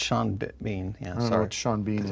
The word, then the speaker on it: Sean Bean: bean yes sean beans i thought you're mispronouncing pan but in this bean no i'm not going to mispronounce pen this is a b not a p well you mispronounced sean so i think it's supposed to be scene bean well no it's sean let me see it well if it was shawn it'd be s-h-a-w-n yeah that's sean bean it's not sean